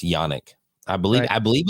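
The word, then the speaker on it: Janek: that I that okay it's with the J but it's actually pronounced yanic I believe I believe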